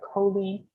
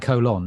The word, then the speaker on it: Colleen: Is it like Colleen? It's not like colon. No, it's Colleen. Yeah. Colleen. Like leaning.